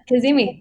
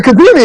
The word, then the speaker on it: Kazemi: And our guest today is how do you pronounce it? Kazemi? Yep. Kazemi. Mm-hmm. Oh, all right, Kazemi.